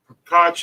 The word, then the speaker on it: Koch: Koch is pronounced Coke.